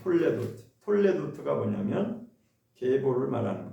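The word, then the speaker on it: תולדות: 히브리어로 이게 무슨 말씀이냐면 톨레도트라고 읽습니다. 톨레도트.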